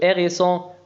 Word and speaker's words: hérisson: c'est Arthur إنه أرتور le hérisson القنفذ. نلاحظ هنا الأش لا تنطق E accent aigu تنطق E le hérisson.